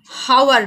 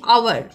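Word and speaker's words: hour: এইটা কিন্তু হাওয়ার নয়, এটা কি আওয়ার, আওয়ার মানে কি ঘন্টা। এইখানে দেখো এই যে এইচের উচ্চারণটা কিন্তু উজ্জ্ব থাকছে, আওয়ার, ও ইউ আর, এই উচ্চারণটা আসছে, আওয়ার আদি উচ্চারণটা আসছে।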